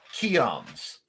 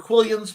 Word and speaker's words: quillons: Oh, the French pronunciation is quillons. I prefer quillions because I can pronounce it, and most people, at least in America, say it.